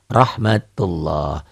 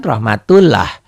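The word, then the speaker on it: رحمة الله: tebel tapi cream ya rohmatullah tulisannya seperti ini dibacanya beda tulisannya kan Rahmat tullah dibacanya jauh rohmatullah seakan-akan ini ada WAnya ya ini rohmatullah bagaimana yang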